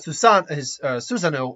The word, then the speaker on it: Susanoo: And then obviously we have Susanoo, or Susano, depending on your pronunciation, which is a giant